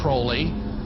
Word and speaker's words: Crowley: he likes to bring have his name pronounced crowley to rhyme with holy and the satanists today